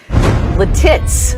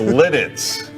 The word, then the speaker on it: Lititz: other great town names the tits It's Lititz though because he just jumped